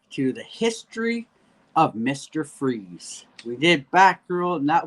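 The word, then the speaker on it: Fries: Victor FZ, pronounced Freeze, was an accomplished cryogenicist whose believed beloved wife Nora was struck with a fatal uh degenerative disease.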